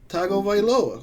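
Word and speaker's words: Tagovailoa: to talk with oh I can pronounce that you just sound it out tago VOA it's not that hard you know coach Sark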